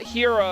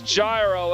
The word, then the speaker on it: Gyro: I think it's supposed to be pronounced gyro because, you know, it's not gyro as in the, not hero as in the Greek food. It's gyro as in the little turbine thing.